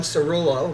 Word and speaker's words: Cerullo: have the two authors of the book John Cerullo my pronouncing your name right yes that's right you